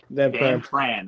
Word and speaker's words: Van Pran: I have Van Pran. Is that how I pronounce it? Yeah, Van Pran.